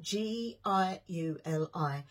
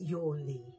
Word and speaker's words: Yuli: put in there is, now a lot of people say this different ways. It is spelled G-I-U-L-I, and a lot of people say Giuli or Giuli, but it's not, it's Yuli, okay, Yuli.